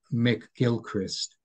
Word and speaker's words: McGilchrist: in his Emissary and the author is Ian which is spelled i a i n Mick Gilchrist Mick MC rather than mac okay thank you very much